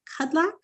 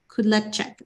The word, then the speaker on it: Kudlacek: Before we get too far in depth, is it Kudlak? How do you say your name, sir? Kudlacek? Kudlacek. Okay.